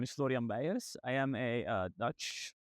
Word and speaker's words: Florian Beijers: My name is Florian Bayas.